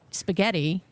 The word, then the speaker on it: spaghetti: English in origin, like spaghetti. Obviously, that's Italian. So the accent there is on the middle syllable.